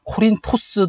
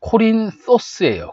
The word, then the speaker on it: Κόρινθος: 고린도는게 그리스어는 코린토스 그래요 코린토스 번데기 소리를 내 줘야 돼요 코린토스 아니고 코린 소스예요 코린토스 영어로는 코린스 아고